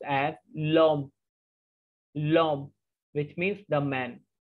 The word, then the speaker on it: l'homme: But in French, H is considered as vowel but mute sound.